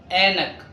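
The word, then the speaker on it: عینک: عين ينتج مثل الف فنقول انك انا يعني يكتب من عين لكن ينطق من الالف ونقول انك يعني نظاره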